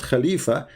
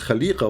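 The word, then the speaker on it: خليقة: So here many Islamic scholars, they say the correct pronunciation of the word is not Khalifa, it is Khaliqa, which means we have to add a dot next to the dot in the letter F.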